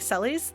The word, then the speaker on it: Celes: will fight you about some of them like celes that is in fact the correct pronunciation zorisu is i believe the japanese pronunciation